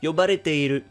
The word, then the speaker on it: yobareteiru: As you can see, it's pronounced as yobareteiru.